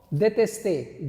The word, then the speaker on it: détester: I hope the pronunciation is clear. Okay, now let's come to this verb, détester. D-E-T-E-S-T-E-R. Détester.